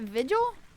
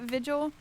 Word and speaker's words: vigil: Is it vigil? Like vigilant? That's what I always thought. Two short sounds.